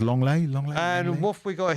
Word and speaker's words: Lenglet: Yes, that's pronounced Longley.